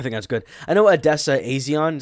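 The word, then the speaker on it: Odessa A'zion: I know Adessa Aison is how you say it.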